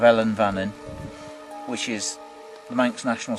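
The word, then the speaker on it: Ellan Vannin: You've sung a part of Alan Vannin. Is that how you say it? Yeah. I keep saying that. No, you've sung a part of Ellen Vannin, which is the Manx national song, which Geff used to sing here.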